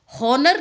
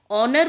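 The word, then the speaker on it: honor: आवर बोलते हैं, हॉनर नहीं बोलते हैं। ऑनर बोलते हैं।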